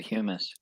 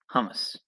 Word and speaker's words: hummus: tell me you said humus humus humus how does this how is it pronounced in in in in the English part like when you go hum and then us hum us it's Hamas hummus well why do I